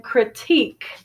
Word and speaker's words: critique: a critic and then critique c r i t i q u e is the verb critique and it has a different stress now critical critical has